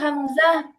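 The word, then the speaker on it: همزة: হামজা, হ্যাঁ কোথা থেকে প্রনাউন্স হয়? হাল, এই আমাদের জায়গাটা গলা হাল। থেকে, আমাদের গলার নিচ থেকে। হ্যাঁ, গলার নিচ থেকে গলা আমি তো একটু আগে বললাম গলার একটা পোর্শন, স্পেসিফিক পোর্শন থেকে উচ্চারণ হয়। যদি পুরো আহ, বলি এটা পুরোপুরি কারেক্ট না কথাটা, আহ, মোর স্পেসিফিকলি যদি বলতে চাই, এটাকে বলে হাল্ক। গলায় হাল্কের নিচ থেকে বা হাল্কের শুরু থেকে, হাল। হাল্কের শুরু থেকে হামজা, হ্যাঁ।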